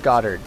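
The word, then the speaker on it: Goddard: you should make a godard's rocket replica a what godard's rock rocket replica Gard you mean it's pronounced garded whatever ah come on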